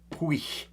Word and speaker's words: puich: So how do you pronounce puich? Puich. All right, so it's pui, as in, you know, smells a bit pooey, you know. So pui with a k on the end of it.